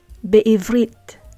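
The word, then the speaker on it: בעברית: When it means in, we pronounce the prefix bet as be. So let's look at these three examples. Be'ivrit, be'ivrit.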